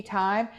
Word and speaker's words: Thyme: It's Tea Thyme. Thyme is spelled Thyme, like the herb.